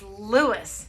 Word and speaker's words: Louis: this is Louis darling listen to how he brings out the S so let's say his name correctly it's Louis Armstrong he was born